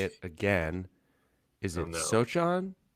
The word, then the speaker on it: Sochan: And I heard his name pronounced last night, and I've forgotten how to say it again. Is it Sochan? Sochan? Sochan, yes.